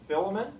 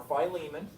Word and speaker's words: Philemon: Philemon or Philemon, you can pronounce it either way, and James.